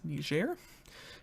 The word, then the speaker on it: Niger: that we've got is niger and that's the way you're supposed to pronounce it because their official language is french and um i